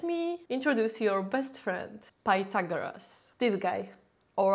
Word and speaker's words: Pythagoras: If so, let me introduce your best friend, Pythagoras. This guy, or I should say Pagoras, which is correct Greek pronunciation.